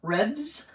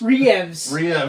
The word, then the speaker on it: Reeves: No, you pronounced it correctly. Yeah. Revs. Revs. Revs. Keanu Revs. Keanu Revs. Reeves.